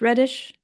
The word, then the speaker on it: Redish: You study with, or you, I think you, you talk Is it Redish? Reddish? Do I say it right? David Radish. Yep.